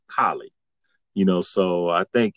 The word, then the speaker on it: Cali: your language so and of course in spanish kali is kali because of the the way that a is pronounced us right in the united states you know it's cali you know like california like that's that's that's